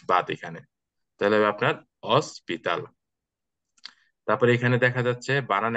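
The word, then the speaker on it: hospital: মানে H silent থাকবে এইচ কে আপনি বাদ দিয়ে তারপরে বাকি যেটা আছে ওইটা থেকে শুরু করবেন যেমন এখানে যদি আমরা এইচ টাকে যদি আমরা বাদ দেই তাহলে কি হবে অস্পিতাল তা আমরা এই ও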